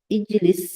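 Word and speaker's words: اجلس: আমরা যে আলিফটা আছে, আলিফটা পড়ায় আসে না। এখন আমরা ইজলিসের সময় পড়লাম। কথা হলো, এটার আগে এটা দিয়ে যদি বাক্যটা শুরু হয়, তখন এটা উচ্চারণ আসে, কিন্তু এটার পূর্বে যদি কোনো কিছু আসে, যেমন ওয়াও আসলে ওয়াজলিস হয়ে যায়।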